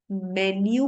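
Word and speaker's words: menu: Hotel में जब हमें खाने के लिए एक मेन्यू कार्ड दिया जाता है तो इट्स अ मेन्यू card. It इज नॉट मीनू card, it इज मेन्यू card.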